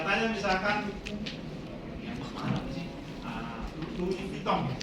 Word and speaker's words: Louis Vuitton: Louis Vuitton, bacanya gitu.